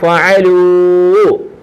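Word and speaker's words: فعلوا: ബഹുവചനം ജംഇന്, അറബിൽ പറഞ്ഞാൽ ജംഅ, ബഹുവചനം ജംഇന് ശേഷം ഒരു അലിഫ് വരും എക്സ്ട്രാ. ഈ അലിഫിന് ഉച്ചാരണമില്ല, പറയത്തില്ല, വായിക്കത്തില്ല. സിംഗുലർ വേർഡിന് ലാസ്റ്റ് ഒരു അലിഫ് വരും. ആ അലിഫിന് ഉച്ചാരണമില്ല. ഉദാഹരണം പറയാം, ഫ ഫ ഫ ഫ, ഐന് ഐന് ഐന് അ, ഫ അ ഫ അ, ലാമ് ലാമ് ലു, വാവ് എടുത്ത് നീട്ടുകയാണ്, ഊ ലു, ലാമ് ലു, ലാമ് ലു, വാവ് എടുത്ത് നീട്ടുക, ലൂ. അപ്പം ഫഅലൂ ഫഅലൂ ഫഅലൂ, ഫ ഫ,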